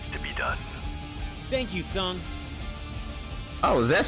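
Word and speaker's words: Tseng: Thank you, Tsung.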